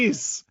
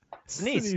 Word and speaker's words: Sinise: I don't know how to pronounce his last name. Denise. Sinise.